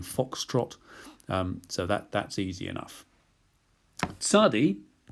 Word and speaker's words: tsadi: Tsadi is a TS sound, as in rabbits.